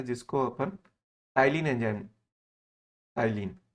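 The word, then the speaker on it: ptyalin: जिसको अपन टाइलिन enzyme, टाइलिन P silent रहता है, टाइलिन एंजाइम के नाम से जानते हैं।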